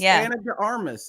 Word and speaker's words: Ana de Armas: Our Ana de Armas isn't right. Darmas. It's Ana de Armas.